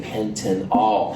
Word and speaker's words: pentanol: I'm kind of trying to emphasize the pronunciations here just to make sure it's clear. This is pentanal, and this is a pentanol.